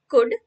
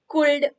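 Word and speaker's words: could: एल डी वुड हं या सगळ्या तिन्ही शब्दांमध्ये एल लेटर आहे पण ते सायलेंट आहे म्हणजेच आपण स्पेलिंग लिहिताना लेटर एल त्याच्यामध्ये आहे त्याच्यामध्ये लिहायचं पण जेव्हा आपण या शब्दांचा उच्चार करतो तेव्हा शुड कुल्ड वुल्ड असा करायचा नाही एल चा उच्चार करायचा नाही त्यामुळे एस एच ओ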